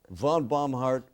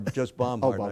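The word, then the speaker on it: Bomhard: the bombart theater and she didn't know whether it was Von bombart or fun or just bombart I said well just bombart and then I I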